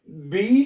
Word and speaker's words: B: जैसे कि अपफिल एक लफज़ है अपफिल है इसको क्या पढ़ेंगे आ अप इसी तरह बी को ये जो बी है ठीक है इसको